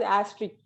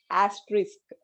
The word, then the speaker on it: asterisk: So they pronounce it as asterisk, but the pronunciation is asterisk. Okay, RISK, we have to pronounce it as risk, asterisk.